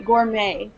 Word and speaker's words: gourmet: so let's all say it the correct way Gourmet gouret okay gold Goldman please go yeah yeah